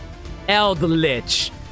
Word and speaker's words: Eldritch: Eldritch. I always forget to pronounce the D in that name.